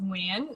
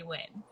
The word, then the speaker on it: Nguyen: because it's phonetic as phonetically close to how it's pronounced in vietnamese which is pronounced win so easier without the accent i just say win so my win that is so pretty